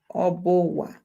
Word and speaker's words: Obowa: We also have Obowa. Yeah, of course in pronunciation it's like this, but this consists of Oba and then Owa. Yeah, so Obowa.